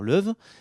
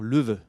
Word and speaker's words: Loewe: prononciation de la marque si on le dit à la française on peut dire love et si on me dit vraiment à la germanique on peut dire le veut alors le voeu c'est